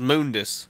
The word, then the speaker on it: Mundus: And then there's Mundus, or Mundus, however you want to pronounce it. It's pronounced as Mundus in the game.